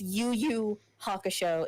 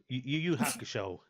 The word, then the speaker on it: Yu Yu Hakusho: It's okay if you can't pronounce it. It's fine. It's Yu Yu Hakusho. It's very easy to say. Yu Yu Hakusho.